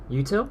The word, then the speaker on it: útil: Util? How do you pronounce this?